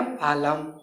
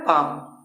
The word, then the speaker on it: palm: पालम। नहीं, गलत हो जाएगा। क्या पढ़ना है? पाम।